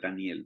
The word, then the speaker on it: Daniel: Tenemos precisamente que el significado de Daniel es bien interesante y si alguien dice, y mire cómo se dice Daniel en el hebreo, se dice igualito, se dice Daniel.